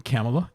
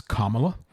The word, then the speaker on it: Kamala: But I was saying Kamala, and it is Kamala. And so that is a good reminder for us. It is the punctuation plus la. Now, Mike Pence is just Mike.